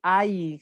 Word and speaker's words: ail: Ah non, pardon, c'est ail. C'est ail comme ça s'écrit.